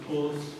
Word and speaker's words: Poels: The name is pronounced Poels, Dutchman.